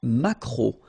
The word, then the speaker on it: maquereau: T, la truite, le maquereau. So technically this K, just pronounce it K, maquereau, maquereau. Alright? And then E, A, U, remember when you combine these three vowels, you get the sound O, maquereau.